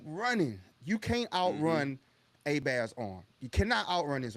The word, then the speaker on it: Herbert: I don't know why they call him Herbert, but his name Oh. is A Bear, Justin A Bear. In Louisiana, he's an A Bear.